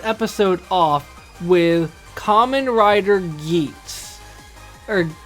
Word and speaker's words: Geats: off with Kamen Rider Geeks or I'm pretty sure it's Geeks because I pronounce it like that in the show so Kamen Rider Geeks